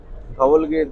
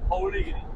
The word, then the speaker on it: ধৌলিগিরি: এই যে আমরা এখন ছোট বাসে করে ধবলগিরির দিকে যাচ্ছি, আর ধবলগিরি নয় ধৌলিগিরি, ধৌলিগিরি, আচ্ছা নট ধবলগিরি, এটা হচ্ছে ধৌলিগিরি, ওড়িয়া প্রোনাউন্সেশন।